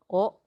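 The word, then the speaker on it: を: Another pattern that you should learn is the use of pronoun o kudasai. Notice again that we have here the word wo. However, this is pronounced as o in the native Japanese.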